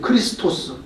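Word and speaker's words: Χριστός: 헬라말로도 그리스도는 크리스토스예요. 크리스토스.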